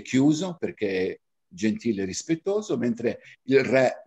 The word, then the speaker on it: perché: sono cinque io adoro quei libri dove perché riporta l'accento chiuso e cioè riporta l'accento aperto ma zio mi viene un sussulto allo stomaco quando vedo perché con l'accento aperta perché perché non si dice perché anche la pronuncia la